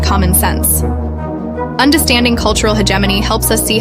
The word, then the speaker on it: hegemony: He h hegemony. Hegemany.